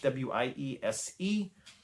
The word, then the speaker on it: Wiese: by an artist called Kurt Weiss or Visa or Weiss or Wise. I don't know how you pronounce his name. It's Wiese. He has some really evocative